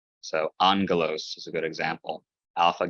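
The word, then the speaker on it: ἄγγελος: First gamma is pronounced not like a g, but like an N sound. So not aggelos, but angelos.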